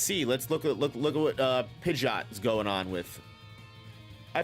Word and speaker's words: Pidgeot: because I feel like I said Pidgeot my whole life, and then I found out it was Pidgeot.